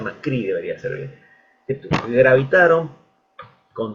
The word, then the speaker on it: Macri: las cuales fue macri o macri sería se pronuncia macri Debería ser bien gravitar con detractores con sostenedores